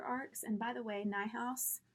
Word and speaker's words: Niehaus: and by the way night house is not spelled like it sounds so if you want